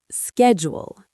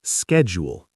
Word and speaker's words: schedule: Schedule, classic example. American, schedule. British, schedule. Same letters, completely different initial consonant cluster. Americans pronounce the SCH like SK. British people pronounce it like SH.